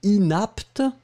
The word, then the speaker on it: inapte: Le premier inapte, d'accord, et le deuxième inepte. Inapte, inepte.